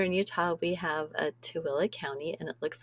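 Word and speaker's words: Tooele: Here in Utah, we have a Tilla County and it looks like it should be Tuli.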